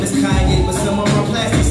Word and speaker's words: Kanye: Now all I need is y'all to pronounce my name as Kanye, but some of our plastics still say Kane.